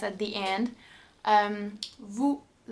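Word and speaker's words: vous: at the end um Vu Vu once again the link and the Z is silent at the end and plus Z makes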